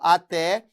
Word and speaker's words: até: Nós temos aqui, ó, até, que é diferente de ate. Poxa, Silvio, ate? É, irmão. Aqui, ó, até e ate. Até é uma oxítona, vamos já ver isso, e o ate é uma paroxítona.